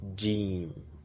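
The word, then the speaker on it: جيم: And the fifth one, which is this, is pronounced to be jim. It's called jim, like the J sound, as in joke, jim.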